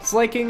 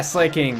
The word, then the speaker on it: Slaking: But it probably is slacking instead of slaking.